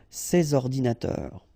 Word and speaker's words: ces ordinateurs: then ordinateur, computers, so you should make the liaison between s and o, ces ordinateurs, ces ordinateurs.